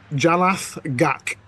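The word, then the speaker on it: Jalath'gak: Oh, those big jalath jalath gak.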